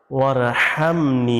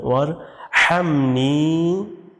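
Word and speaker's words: وَارْحَمْنِي: আল্লাহুম্মাফিরলি লিতে টান আছে ওহামনি এখানে আছে ওহামনি আপনি বলবেন বলবেন ওয়ার হামনি লাস্টে টান দিবেন ওয়াহদিনি ওয়াহদিনি ওয়াজবুর ওফিনি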